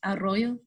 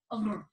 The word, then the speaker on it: Arroyo: If you got to roll the R a bit, it's Arroyo. Arroyo.